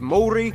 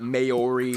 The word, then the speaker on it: Māori: Native Māori, 7% Pacific Islander, and the rest are mostly Asian of various countries like China, Korea, and Japan. Yes, by the way, it's pronounced Māori, not Maori, Maori.